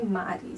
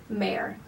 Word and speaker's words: Mare: nomes dos personagens e não é Mari, sim Mare, né?